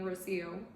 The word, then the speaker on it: Rocío: was so scared to say my name is rocío she was so scared but she said it